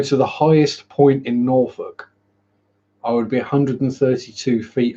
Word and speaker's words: Norfolk: So I'm in a proper Norfolk, which is actually correctly pronounced Norfolk.